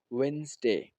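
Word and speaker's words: Wednesday: ऑन वेनसडे ऑन वेनसडे ज्यादातर लोग इसमें यह डी भी बोलते हैं लेकिन यहां पर यह जो वेनसडे में य डी है यह साइलेंट है वेनसडे आर you free to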